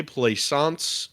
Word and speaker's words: Plaisance: This is what they called the Midway Plaisance and the Entertainment Day. I bet if I were to try to say that, I'd not get it right. Like plaisance. Hey, you said it right. Good job.